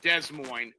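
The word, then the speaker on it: Des Moines: Iowa uh I think de Mo which is pronounced Des Mo um and how old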